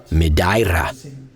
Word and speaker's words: Madeira: Pedro and Joao are excited to show us some of the great things to see underwater here in Madeira, or as the locals say it Madeira.